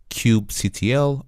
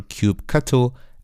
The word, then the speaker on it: kubectl: this command line application called Cube CTL or cube cattle as many people pronounce and basically what Cube